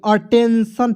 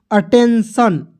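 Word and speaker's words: attention: यही है आपका रूल तो आई को क्या पढ़ते अ पढ़ते हैं दोस्तों अब पढ़ते हैं देखिए य प A double T ई एन टी आई ओ एन देखिए अटेंशन पढ़ेंगे क्या पढ़ेंगे अटेंशन जैसे यहां पे सी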